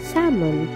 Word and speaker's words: salmon: Salmon nila Salmon Salmon Ayan silent L na Salmon o ' ba Ayan